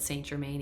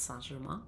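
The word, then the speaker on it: St. Germain: I think she pronounces it Saint Germain, even though that's super funny to me because in French it's Saint Germain.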